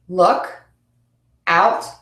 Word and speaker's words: look out: And again, for the second word is stressed in phrasal verbs, which goes with our last rule about two-syllable words. Come back, come back. Look out, look out.